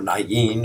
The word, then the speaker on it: Nain: And so whoever was raised, the widow's son from Nain or Nain, if you want to pronounce it correctly, they all died a second time.